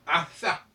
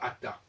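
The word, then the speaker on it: אתה: Est-ce qu'on doit dire Ata ou est-ce qu'on doit dire Atha? Donc, puisque c'est un Tav, on devrait plutôt le prononcer comme le TH anglais, et non pas Ata.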